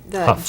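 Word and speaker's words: Hough: Huff.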